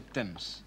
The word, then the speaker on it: Thames: Le monsieur, évidemment, n'y voyait rien à cause de son trop grand chapeau et il tomba dans la Tamise, prononcé Thames.